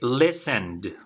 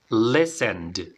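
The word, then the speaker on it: listened: nuestro verbo en pasado en cuanto a la pronuncia tiene terminación d vale termina en D entonces forma base repite conmigo Listen Listen ahora vamos con la forma pasada terminen de Listen que tiene que sonar la de D Listen Okay Listen Great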